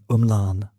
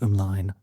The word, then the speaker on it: ymlaen: thinking of, I like the Welsh word umlan, or possibly it's supposed to be pronounced umlaen. I'm not quite sure because I think learners pronounce it one way and native speakers pronounce it another way.